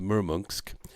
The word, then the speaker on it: Murmansk: we sail out of murmursk which is spelled murmansk but it's pronounced the murmunsk it's kind of a